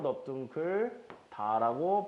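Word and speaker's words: 넓둥글다: 그래서 경험 안 일어나고 그대로 넙둥클 다라고 발음하고 끝내주시면 됩니다.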